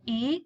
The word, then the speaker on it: y: minutes after the hour we simply add the letter Y which is pronounced e and the number of